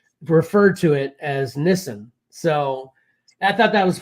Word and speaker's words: Nissan: to the automobile manufacturer Nissan you don't say Nissan that's not how you pronounce it do you know how you pronounce it correctly Pat I've heard this before but I cannot remember okay it's Nissen yeah so and and the only reason I'm